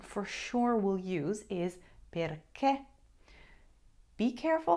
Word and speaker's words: perché: sure will use is perché. Be careful how you say it. There is an accent on that last little letter, and you have to say that and pronounce it correctly. Perché.